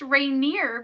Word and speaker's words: Rainier: So, and it's pronounced Rainier because that's here.